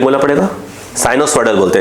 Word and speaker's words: sinusoidal: the sketch in the figure shows displacement time curve of a sinusoidal, spelling बोलना पड़ेगा, साइनोसॉइडल बोलते हैं इसको, साइनोसॉइडल, ऑफ और साइनोसॉइडल, SINUSOIDAL,